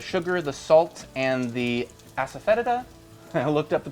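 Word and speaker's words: asafoetida: And then once we get to that point, we'll add the sugar, the salt, and the aspheta. I looked up the pronunciation. It's aspheta.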